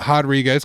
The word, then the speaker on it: Rodriguez: You pronounce it Rodriguez because she's Brazilian.